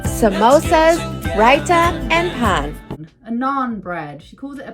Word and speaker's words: naan: how to pronounce anything she calls it a pawn or a pan it's a naan there was around the